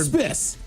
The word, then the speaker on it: isthmus: So this is an I word that's a narrow strip of land bordered Isthmus. Isthmus. Well Done test. Yeah, I love that. But it's spelled what?